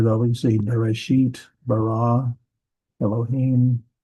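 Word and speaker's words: בָּרָא: It's bara, not bara. It's bara, because here's the accent mark on that last syllable.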